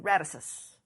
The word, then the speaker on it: Radisys: industry, and is currently an engineering manager with Radisys. Did I pronounce that correctly?